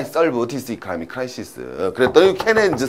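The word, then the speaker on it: Keynes: 또 이거 읽으실 때 또 키네즈라고 읽지 마시고요. 쪽팔리게. 자, 국민 영어가 중요하다니까요. 바로 누가 된다? 케인즈를 찾아간 거죠.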